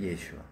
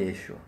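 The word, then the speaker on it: ישוע: 원래 예수님의 원어의 발음은 우리가 아시다시피 예슈아.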